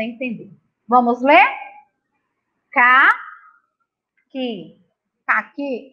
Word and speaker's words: caqui: E nessas sílabas, a letra U não é pronunciada. A gente não ouve. O que, que. A Pró vai mostrar uma palavra para você entender. Vamos ler? Ca, que. Caqui é uma fruta.